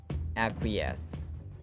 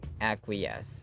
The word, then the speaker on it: acquiesce: to be agitated cogitate you might have been mispronouncing our vocabulary but it's acquiesce acquiesce you don't have the right to argue all